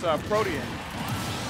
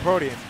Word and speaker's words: Protean: It's Protean. Oh, Protean.